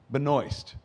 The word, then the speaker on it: Benoist: Uh, Melissa Benoy rhymes with moist. Uh, I learned that from Chris Wood. Um, That sounds awfully romantic. Late one evening. I used to say benoist all the time.